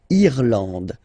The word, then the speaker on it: Irlande: Remember, this is E and it should be pronounced like E. Irlande. Irlande. Okay? A-N, en. D. And final E, not pronounced.